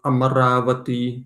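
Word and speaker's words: Amarāvatī: Amaravati. There is a famous place in southern India called Amaravati. Amaravati, in fact, it's a long A.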